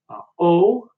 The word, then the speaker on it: ho: You might have noticed that I'm not pronouncing the H when it's at the beginning of the word. And so the H is essentially dropped when we pronounce it at the beginning of the words.